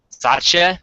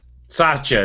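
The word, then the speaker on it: Satya: you say his name that's not sachet sacha that's where we're going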